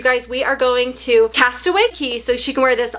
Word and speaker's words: Castaway Cay: The Castaway Cay 5K. And I was like, that's dumb. It should be Castaway Cay 5K because it rhymes. I know. I was saying wrong.